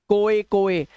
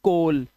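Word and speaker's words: coal: जैसे ओ ए आया हुआ है तो इसको ओ ए ओ ए मत पढ़ना कोए कोए ना सिर्फ कोल सोप लोन र ड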